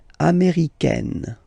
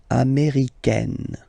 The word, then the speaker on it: américaine: So when you talk about the nationality, américain, masculine form, un, américain, and then feminine form, américaine. Américaine. Okay, it's really open, this A-I. Américaine.